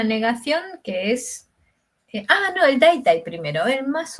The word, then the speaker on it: だいたい: ¿Cómo lo pronuncias? Daitai, sí. Daitai, sí, va con D primero y Vale, después con T. es dai tai.